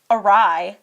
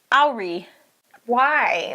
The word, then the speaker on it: awry: genetics or environment bear also mispronounces the word awry as re Y like Joey it's like when people